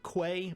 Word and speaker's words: quay: fine and it depend it's a regional dialect thing so either one works and I interchange them